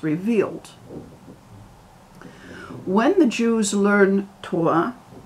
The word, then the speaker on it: Torah: when the jews learn torah which you pronounce as terah we create the light